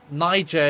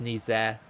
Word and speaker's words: Niger: And of course, Niger is the English way of saying it. But I know it's pronounced Nizer.